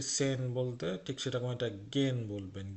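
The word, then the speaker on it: gehen: শ্রীমেন, থানজেন নাচা, রাইজেন ভ্রমণ করা, জিঙেন গান গাওয়া, জগেন জগ করা, ফটোগ্রাফার ছবি পড়া, গেন গেহেন না কিন্তু গেন যাওয়া। আগে আমরা যে সেহেন পড়েছিলাম, আমরা বলছি সেন বলতে, ঠিক সেরকম এটা গেন বলবেন, গেহেন না গেন।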